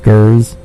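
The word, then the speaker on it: Geers: should take this down his last name is G e e RS it's pronounced carries his first name is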